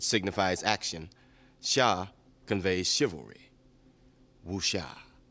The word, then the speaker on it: wuxia: Du coup, aujourd'hui, on va répondre à la question « C'est quoi Wuxie ?» Alors, le wuxia. Oui, parce que première chose, en chinois, les X se prononcent sh.